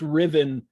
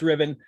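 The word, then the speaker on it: Ruthven: the story is named lord riven now it's pronounced riven it's pronounced it's spelled ruth then r-u-t-h-v-e-n oh you can see it right there on the page um it's pronounced ribbon lady carolyn lam was a mistress of byron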